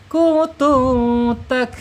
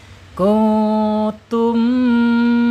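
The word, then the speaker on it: كنتم: Mimnya harus dibaca jelas. Kutum. Awas hati-hati jangan mentang-mentang fasih bacanya. Jadi kutut itu. Masyaallah. Afwan ya. Kalau kalau ada ya kalau ada seperti itu jangan ya. Itu menyelih kaidah ee ilmu tajwid. Kuntum tahan dua harakat tak.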